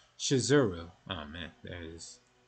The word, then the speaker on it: Shizuru: name of the goddess is actually spelled and pronounced shizuru oh man there it is or that misspelling